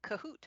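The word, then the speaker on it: Kahoot: classes is a simple online quiz tool called cahoot it's spelled k a o o t and we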